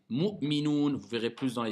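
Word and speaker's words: مؤمنون: Le mot minon. Non, c'est le mot minoun. Ok? Donc, il faut apprendre à bien prononcer. Mu'minoun.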